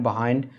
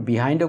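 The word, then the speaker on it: behind: burst এটার উচ্চারণ আপনারা বিহাইন্ডও করতে পারেন বাহাইন্ডও করতে পারেন কোন সমস্যা নাই তো এটা মানে নেটিভরা যখন ন্যাচারালি কথা বলেন তখন তারা এটাকে বাহাইন্ড উচ্চারণ করেন আর আপনি বিহাইন্ড করলেও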